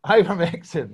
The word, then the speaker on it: Ivermectin: of this product called Ivermectin. Yeah, Ivermectin. Oh, all right, got it all wrong. Ivermectin.